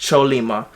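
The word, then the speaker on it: Chollima: I think it's pronounced Cholima, but it is a mystical creature originated from the East Asian culture, and basically the horse represents harmony and strength.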